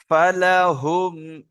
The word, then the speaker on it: فلهم: فلهم أجر غير ممنون আবার একবার বলি শোনেন فلهم أجر غير ممنون নামের আলী ভাই আপনি ওইটা বানান করেন জি হুজুর।